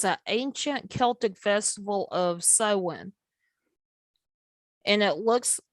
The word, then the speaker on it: Samhain: ancient celtic festival of sowen and it looks the way it's spelt is not the same way it's pronounced um it looks the